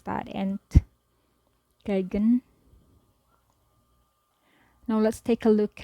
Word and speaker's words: Entgegen: And how do I pronounce that? Entgegen.